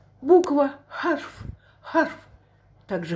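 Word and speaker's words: حرف: Х там читается без всяких точечек. Видите? Вот она х. Вот это х. Х. Х. Без всяких точек. Харуф. Из горла это х выходит. Буква харф.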